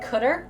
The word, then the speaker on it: cdr: isn't that crazy cdr is pronounced cutter really yeah and now